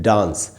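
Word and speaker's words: dance: तो ये खत्म तो ई से हो रहा है लेकिन ई इसमें साइलेंट है। हम तो सिर्फ सी तक पढ़ते हैं। हम पढ़ते हैं डांस।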